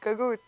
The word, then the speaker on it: Gagootz: How do you pronounce it? Gagootz.